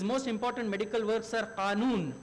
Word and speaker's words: Qanun: His most important medical works are Qanun. Qanun is what we call law. They call it canon because they cannot really pronounce it.